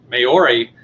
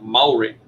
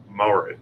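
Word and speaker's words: Māori: Because as it's spelled, it's Maori. And so you think it's Maori, and it's like three syllables, and it's like, think of it as two, and it's like Maori. Maori.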